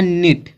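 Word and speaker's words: knit: फिर यहाँ दिया है निट, तो जो यह के एन आया है, देखो स्टार्टिंग में क्या के है फिर एन आया है, तो जो यह के है इसका उच्चारण नहीं किया जाएगा, सिर्फ एन पढ़ेंगे, निट।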